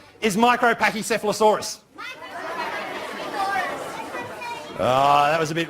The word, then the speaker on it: Micropachycephalosaurus: Now, the longest dinosaur name is Micropachycephalosaurus. Oh, that was a bit ragged. Can you guys say micro? Micro. Micropachy. Micropachycephala. Micropachycephalosaurus.